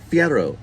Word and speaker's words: Fierro: Fierro. Fierro.